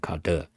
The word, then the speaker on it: cdr: You pronounce it, different people pronounce it differently. I just call it car and cadre, okay.